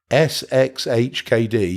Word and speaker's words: sxhkd: if I got that right let's go back sxhkd yes I am pronouncing it right and in here you should